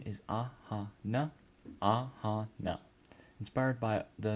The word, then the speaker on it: Aahana: So name is Aahana, pronunciation is Aahana, Aahana.